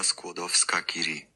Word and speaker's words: Skłodowska-Curie: Maria Skłodowska-Curie. Okay. Which is exactly what I've been saying, actually. So. Yeah, but it's spelled like Sklodowska. Anyway, I'm probably butchering that pronunciation.